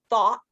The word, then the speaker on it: thought: So as you see, it looks like it's spelled the same way, but it's pronounced thought instead of though.